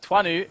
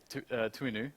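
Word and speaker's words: Toinou: So Twanu is what Google Translate says, and what quite a few people are telling me on Twitter. Yesterday we were going with Tuinu or something like that.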